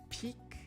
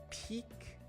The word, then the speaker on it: peak: then the next one peak and pick peak and pick see how when i'm making the e sound my mouth goes a little bit wider than when i say pi pick peak pick now try